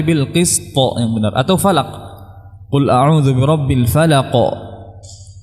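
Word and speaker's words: الفلق: Atau falaq, qul a'udzu birabbil falaq. Tidak diucapkan qul a'udzu birabbil falaq. Ya, jadi yang tebal juga harus ditebalkan. Nah, dan tidak difathahkan.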